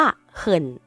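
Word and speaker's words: 很: จริง และ คำ ว่า เขิ่น เขิ่น ใน ประโยค นี้ ออก เสียง ว่า เขิน นะ คะ แปล ว่า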